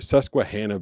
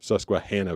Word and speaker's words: Susquehanna: how to say Susquehanna Susquehanna Valley. And it is it's more like Han like Hannah Montana as opposed to Han like Han Solo.